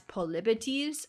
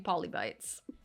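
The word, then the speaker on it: Polybotes: The internet wants me to say his name as Polibetes. I was saying Poli Bites.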